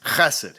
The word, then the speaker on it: chesed: Bible is this word, chesed. Say it, class, chesed. You gotta pronounce it like you're trying to hock up a big loogie to spit on some